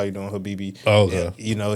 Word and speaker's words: Habibi: So Habibi So Yes, like the way I I would say it is Habibi.